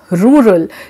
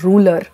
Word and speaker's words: rural: break that word now there are words like rural you know it's rural but many of you still pronounce it as ruler but while reading when you see that r u r a l is different and r u l a r is different it has to come